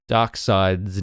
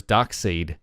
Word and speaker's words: Darkseid: I found out that I was saying Darkseid's name wrong my entire life I was because his name is spelt dar KS Eid I always thought it was dark seed yeah me too but they reference it as Darkseid so you heard it